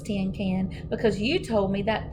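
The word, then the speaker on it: cinquain: to sound it out May jumped right up tentin can she shouted it's probably pronounced tentin can she grinned real delightful I know it's ten can because you told me that this morning remember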